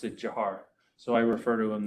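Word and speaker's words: Dzhokhar: you saw his name it looks like like zokar but he his family and he pronounced it jiar so I refer to him that way um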